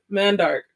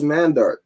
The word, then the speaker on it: Mandark: say his name mandarin mandark i thought it was mandark it's not mandark it's man dark like a man that's dark that's how you spell